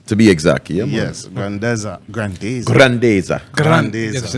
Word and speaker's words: Grandeza: Grandeza. Grandeza. Grandeza. Just, you know, the Spanish Grandeza.